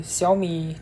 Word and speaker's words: Xiaomi: Then the Xiaomi 13. Yes, that's a correct pronunciation. I nailed it because I'm I'm I'm native Chinese speaker.